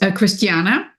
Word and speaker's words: Christiane: who you are yeah so my name is Cristiana perfect pronunciation there absolutely loved it loved it and